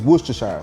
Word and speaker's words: Worcestershire: So for those of you that want the correct way to say this, it's Worcestershire sauce.